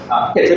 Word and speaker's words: Chytrid: Now I'm just going to spend a second focusing on the Chytrid fungus, Chytrid or Chytrid, depending if you're American or British, pronounce it differently.